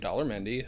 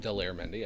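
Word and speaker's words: Daler Mehndi: There was this Indian gentleman named Dollar Mendy who did uh it's actually pronounced Delair Mendy.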